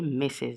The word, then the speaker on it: Mrs: and mrs is for a married woman okay missus this is we we pronounce this message okay and of course the